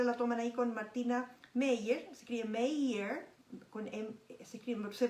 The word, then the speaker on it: Meier: y la hora la toman ahí con Martina Meyer, se escribe Meyer, se pronuncia Meyer, pero es M-E-I-E-R, así se escribe, es inmunóloga clínica.